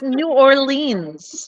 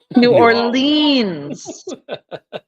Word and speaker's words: New Orleans: No, it's New Orleans.